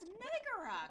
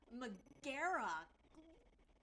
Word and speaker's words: Megara: there we go these that's not how you pronounce her name it's megara come on mcgarrah let's get it together